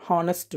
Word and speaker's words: honest: not pronounce example an honest man next an R actually in this place harest the spelling of the word is h o n e s t but the actual pronunciation the H is silent but the pronunciation the